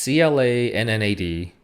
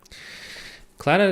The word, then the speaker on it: Clannad: I still can't properly pronounce this show. It's CLANNAD, Clannad.